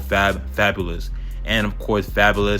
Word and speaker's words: Fabolous: It was like f a b o l o u s and I was saying fabulous to rhyme with vocabulus and I think he took that as my name and then it just spread.